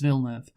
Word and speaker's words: Villeneuve: Yeah, and it's Villeneuve because that's Jacques Villeneuve and the other one, Gilles Villeneuve. That's how their names were pronounced. They were French-Canadian, so Denis, I assume it's the same, so that's what I'm going to call him.